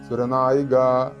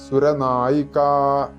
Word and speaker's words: സുരനായികാ: ഉച്ചരിക്കുക ജപി ിക്കുക ഇവിടെ കായക്ക് പകരം ഗ എന്ന് വരരുത് നമ്മളൊക്കെ സാധാരണയായി മലയാളത്തിൽ സുരനായിക നായകൻ നായിക എന്ന് പറയുന്നതുപോലെ സുരനായിക എന്ന് ഉച്ചരിക്കരുത് സുരനായിക എന്ന് തന്നെ വരണം അതുകൊണ്ടുതന്നെ അക്ഷരങ്ങളുടെ ഉച്ചാരണ വ്യത്യാസം അത് മനസ്സിലാക്കുക സുരൻ എന്നാൽ ദേവൻ സുരന്മാർ